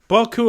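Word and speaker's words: Beaucoups: The P is silent. Boku of Blues.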